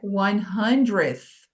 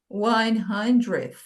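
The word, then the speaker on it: hundredth: de falar, que é 100th. 100th, né? Lembrando que esse, primeiro de tudo, esse D aqui é silencioso, a gente não se preocupa com ele.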